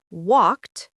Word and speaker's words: walked: For example, walked to T, played to D, wanted to id.